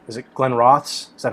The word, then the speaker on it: Glenrothes: I had a bottle of it's is it Glenrothes? Is that how you say it? Glenrothes, yeah.